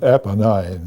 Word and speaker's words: Apennines: The mountain range itself, the Apennines, is that how you pronounce them? Apennines.